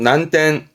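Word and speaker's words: 難点: 시텐 시텐 요거는 어려울 난자 어려운 점이죠 난점 발음은 난텐 난텐 요것도 중요합니다 초짜인 초점이 초점이라고 어떤 가지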